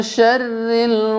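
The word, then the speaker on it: شر: Pertama pada huruf ro-nya, okay? Huruf ro. Itu jangan sampai bacanya dengan tafkhim atau tebal. Min syarril, nah, tipis. Syarri. Ya, jangan syarri. Tebalkan baru ditipis, tipiskan tidak boleh, ya.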